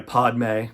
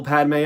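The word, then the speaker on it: Padmé: able to do it so Clovis says I'm sorry Padma because that's how he pronounces it and let's go himself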